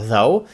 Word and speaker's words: though: Кількість літер та вимова though і all though. Ну, якщо th o ще можна зрозуміти як though або all though, то gh в кінці взагалі не зовсім зрозуміло для чого там вони глухі, але в будь-якому випадку